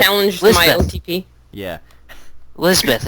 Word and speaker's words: Lisbeth: Lisbeth. It's a Japanese pronunciation of an English name.